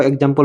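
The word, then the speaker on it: example: তাই উচ্চারণ গয়জয় এর মত শোনায়। সেম আরো এক্সাম্পল বলছি।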